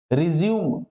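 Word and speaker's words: résumé: रिज्यूम, रिज्यूम माने होता है फिर से स्टार्ट करना, रिज्यूम। ओके, और स्पेलिंग ऐसे ही होती है, सेम होती है स्पेलिंग, लेकिन होता है एक रिज्यूमे, उसका उच्चारण अलग होता है।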